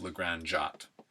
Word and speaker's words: La Grande Jatte: on the Isle of Legrand jot Legrand jot is LA and then Grand GRA nd and jot is j8 ET e j8 ete Sunday afternoon on